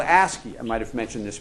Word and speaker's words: ASCII: a character is known by these five letters ASC III which is pronounced ASCII and all it is it's really